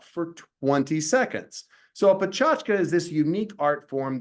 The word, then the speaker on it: PechaKucha: word a lot of people want to say PETA cucha but that's not it it's actually PR pronounced pachka it's actually a Japanese word and if we